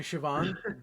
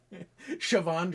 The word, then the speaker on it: Siobhan: two words, and now you've corrupted me into Siobhan. But I don't know if corrupt is the right word. all right, you've shown me the light of the correct pronunciation. Right, there you go. Much better. Siobhan Dragon, yeah, a little Celtic in there.